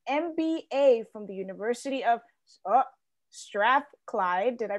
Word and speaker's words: Strathclyde: Sandy has a law degree from Cambridge, an MBA from the University of Strathclyde. Did I pronounce that right?